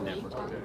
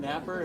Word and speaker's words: Knepper: Yeah, it's pronounced Knepper. Knepper? Knepper, thank you. Excuse me to our Vegas viewers. That's my fault. That's all right. I've heard Knapper, I've heard Knepper, so I'm like, Yeah, it's Knepper.